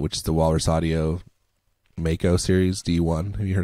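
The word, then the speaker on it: Maaco: It is Mako, and here's how I know. Because it's M-A.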